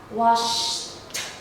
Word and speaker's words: washed: So as you notice, there are 3 different sounds, even though the ending spelling is the same. Okay, they all end in ed, but the pronunciation is different.